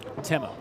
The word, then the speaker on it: Timo: but it's pronounced Timo.